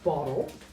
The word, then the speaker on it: bottle: of reduction right in words such as bottle. This uh is the primary stress and this is our stress. Right? Which means the E disappears and the the L becomes syabic.